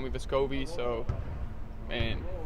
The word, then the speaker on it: Vescovi: Back home, it would be Vescovi, like the accent would be on the first E instead of the O, like people say here.